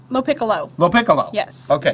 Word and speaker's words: Lopicolo: now let me work on your name Lindsay Lo Piccola Lo Piccolo Lo piccolo yes okay it's difficult to pronounce for is it Italian or not it